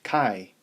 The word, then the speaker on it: chi: to an x-squared and it's pronounced chi which rhymes with pi so if a random